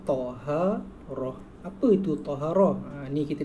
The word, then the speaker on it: Taharah: Ni cara bacanya Taharah.